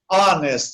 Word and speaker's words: honest: As exceções, honest, você escreve com H, feito em português. Em português você não fala honesto, você não pronuncia o H, você pronuncia a vogal, honesto.